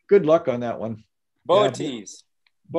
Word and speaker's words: Boötes: Wednesday we have, I assume it's pronounced Boötes, B-O-O-T. Oh, good luck on that one. Boötes. Yeah, Boötes, the herdsman, will be high in the south after sunset, anchored by the bright star Arcturus.